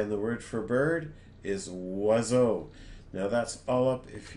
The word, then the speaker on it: oiseau: Each oiseau, so each bird, has 6 somethings. And it's going to rhyme with bateau and Chapeau.